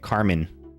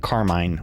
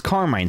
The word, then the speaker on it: Carmine: So, someone was playing this card the other day at the tournament and they were pronouncing it Carmen, but I see that as like Carmine or Carmine.